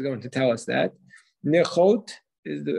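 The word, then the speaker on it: נכאת: Nichot is how to pronounce it.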